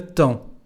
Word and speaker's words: temps: pas si j'aurai le temps de passer. J'aurai is the future tense, irregular form of the verb avoir. Temps, we don't pronounce nor the P, neither the letter S.